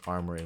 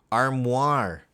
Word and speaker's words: armoire: you pronounce this I I read it first is Armory but it's not it's a wardrobe armoire okay armoire where is that this one